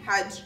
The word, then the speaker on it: Hajj: our new units hmm did you need help pronouncing the words Quran had and Allah by the way it's Quran Hajj and Allah my point is when